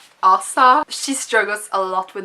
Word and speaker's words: Asa: It's Asa.